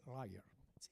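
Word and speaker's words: lawyer: que el abogado lyer y no se dice lyer se dice rer algo así bueno Y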